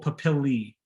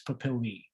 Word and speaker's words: papillae: dermal papilla or pleural papillae a e in latin is pronounced e and that's plural if it's sin if you're referring to one it's a papilla if you're referring to many it's papillae these are the ridges